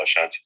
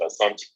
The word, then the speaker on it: Asante: Well, people pronounce it Ashanti, but we actually pronounce it Asante.